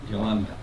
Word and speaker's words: Yolanda: This student Yolanda, is that right? Yolanda. Yolanda. Yolanda. Rhymes with rotunda.